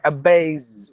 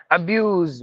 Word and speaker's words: abuse: between the vowels so you have to say abaz with z sound abuse with a z sound accuse with a z